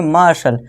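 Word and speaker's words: martial: मार्शल यानी कि सैनिक।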